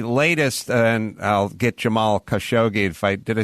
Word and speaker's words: Khashoggi: you um the latest and i'll get jamal khashoggi to fight did i say that right ashok g in the documentary they pronounced it jamal khashoggi uh khashoggi right um yeah um so it's a story